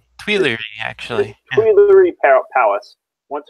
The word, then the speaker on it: Tuileries: How do you pronounce that? The Tuileries? Tuileries, actually.